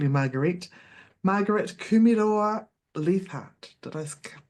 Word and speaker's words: Kumeroa-Leathart: Today I have the pleasure of chatting with Marguerite, sorry, I was going to call you Marguerite Kumeroa-Leathart. Did I pronounce that correctly?